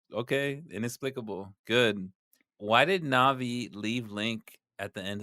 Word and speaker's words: Navi: My only explanation is that Navi rhymes with Javi, and Javi is fucking just a bitch, and that's it.